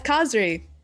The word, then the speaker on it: Kazhri: Kazhri, is that how you pronounce his code name? Yes, Kazhri, which is Okay.